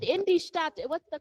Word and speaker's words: Stadt: And also, Sister Alicia, to perfect it, the D in the word, don't pronounce it. Got it? You don't say in their Stad, but go to the T. In their Stadt.